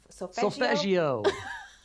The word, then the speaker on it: solfeggio: How do you pronounce it? Solfeggio.